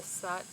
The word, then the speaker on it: sat: mantra so we'll inhale to sut s-a-t it sounds like s-u-t in the pronunciation bringing this into the